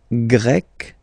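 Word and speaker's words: grec: form GRE feminine form you write them differently but then if you listen carefully gre gre you pronounce them the same way okay Portugal portug portuges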